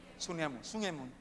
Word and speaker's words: 숭례문: 1398년에 Llamada, creo, no sé cómo se pronuncia, Soñemun, 소녀문, en la puerta. 소녀문이라고 말하죠. 숭례문.